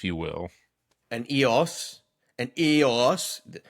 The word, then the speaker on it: iOS: An EOS. The umlaut over the O makes you pronounce it EOS.